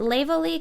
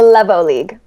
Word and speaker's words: Levo League: Now, she's I know of um the Is it Leo League? I always pronounce it. Levo. Sorry. Say it one more time. The Levo League.